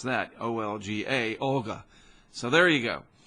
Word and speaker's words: Olga: I do know how do you pronounce that. O-L-G-A, Olga.